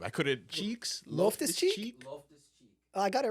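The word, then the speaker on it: Loftus-Cheek: What's an accurate pronunciation of the last name? I couldn't. Cheeks. Loftus Cheek?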